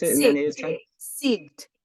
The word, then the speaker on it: Sigd: How did they pronounce it in the native tongue? Sigd, Sigd.